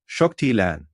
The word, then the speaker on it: Zuktilan: We are pleased to be hosted by Zuktilan, pronounced Shocktilan, a renowned Arcturian timekeeper who last incarnated on your world in the 4th century AD during the classical Mayan civilization.